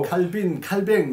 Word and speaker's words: 칼뱅: 그리고 칼뱅 이제 원어 발음의 칼뱅으로 섞어 쓰는데 칼뱅이 삼중직무론을 쓰면서 기독론이 아주 중요한 그렇죠.